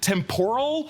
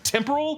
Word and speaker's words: temporal: of the time stream Owen Wilson always pronounced it temporal instead of the correct temporal which I will admit I for many years would say temporal like shrimp tempora and I blame it